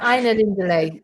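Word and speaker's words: Ainulindalë: Aina Lindale.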